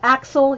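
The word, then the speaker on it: Aczel: riddle of the compass exit axle you'd pronounce it like axle okay thanks Tatiana more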